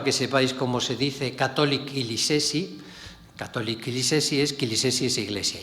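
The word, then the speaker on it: Katolik Kilisesi: Esto es para que sepáis cómo se dice Catholic Kilisesi.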